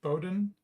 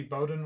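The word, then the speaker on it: Boudin: hold up uh Kathy Bowden I'll just pronounce her name Bowden it's b-o-u-d-i-n uh Kathy Bowden was involved with this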